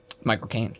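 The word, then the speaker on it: Michael Caine: Oh, um, Michael Kane. Michael Kane. Yeah. I always remember it because you pronounce it like you're saying my cocaine.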